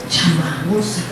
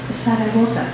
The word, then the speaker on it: Zaragoza: Chamagosa. Nada más vean, o sea, ganas de molestar las hay. Sí, pero me dejo molestar o simplemente aclaro, no te equivocaste, es Zaragoza, no sabes pronunciar la Z y entonces ya con